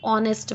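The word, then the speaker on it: honest: focus करना है तो ऑनेस्ट इसको नेस्ट नहीं बोलते एचएस में साइलेंट होता है तो उसकी क्या प्रोनंसिएशन होगी ऑनेस्ट मैन तो जब मैं ऑनेस्ट बोल रही हूं तो ओ की आवाज आ रही है ओ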